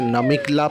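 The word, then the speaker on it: Namika La: আমরা পাশে উঠে এসেছি, আমি এই পাসটার নাম স্পেলিংটা উচ্চারণটা ভুল করছিলাম। এটা হচ্ছে নামিকলা পাস।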